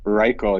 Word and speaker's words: Reichel: Is it Reichel or Raquel? How do you pronounce his last name? Reichel, yeah, he played with Reichel.